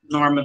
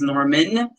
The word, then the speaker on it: Norma: uh to spell or pronounce this norma but most people pronounce my name as norman um so somehow i